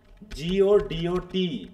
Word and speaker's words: Godot: হ্যাঁ, তাহলে হচ্ছে এখানে টিটা সাইলেন্ট হবে।